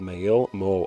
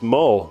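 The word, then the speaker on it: Meayll: of a chambered K called May Mo oh it's mole mole Circle okay that's how you say it the circle is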